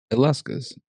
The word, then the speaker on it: Illescas: Uh, it's Allescus.